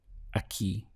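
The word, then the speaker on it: aquí: word for here is a key literally it sounds like a ke in English but it's spelled obviously this way a ke means here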